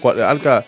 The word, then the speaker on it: Alkha: Alka, ¿cuáles son tus redes para que te pueda buscar la gente? Alka se escribe ALKHA_oficial.